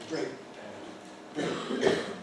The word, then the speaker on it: brake pad: So we put the stress on the first element and we say brake pad.